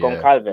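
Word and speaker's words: Gonçalves: How do you pronounce it? Goncalves.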